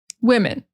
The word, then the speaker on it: women: And plural, it's going to start with wi. It's like a short I sound, like men, women.